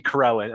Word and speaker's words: Corellin: What did I always thought that Carillion was bought out by RMH years ago. And then didn't the Terra buy RMH? or the calamity. And I'm mispronouncing. It's actually Corellin. I'm sorry. Okay.